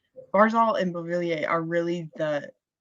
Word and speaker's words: Beauvillier: Beauvillier? Beauvillier, yeah.